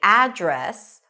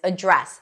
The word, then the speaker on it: address: Then you can either say address with the stress on the first syllable and an a as in cat sound, address, or you can put the stress on the second syllable, address. What's your address or what's your address? Both are correct.